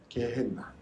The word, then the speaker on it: 게헤나: 말씀드렸죠 개벤 흰놈 스트 이게 개벤 놈이라고 불 는데요 이거를 그리스 그리스식으로 발음을 바꾸면 우리나라 뭐 모택동을 마조동 이렇게 바꾸는 것처럼 마저 보통 이렇게 바꾸는 것처럼이 게이벤 흰 놈을 그리스식 표현으로 바꾸면 어떻게 받음을 하냐면요 게해 나라고 부릅니다 게헤나 근데이 게헤나 예수님께서 여어